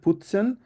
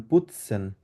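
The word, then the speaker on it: putzen: টি টা যেটা আছে পুতসেন এটা টি উচ্চারণ না করে ত উচ্চারণ করবেন ফুৎসেন আবার বলেন তো দেখি না টি না আপনি ত উচ্চারণ করবেন পুতসেন পুটসেন আবার বলুন এটা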